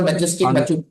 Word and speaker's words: majestic: and Oscar angular on a trail to The Majestic Majestic Machu picu when people look at this